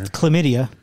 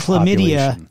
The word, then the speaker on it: chlamydia: code with 20 21 chlamydia oh that's three by the way there's an h yeah but it's ch it starts with a c it's a silent h is it hc it's